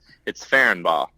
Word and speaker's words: Ferenbaugh: It's Ferenbaugh.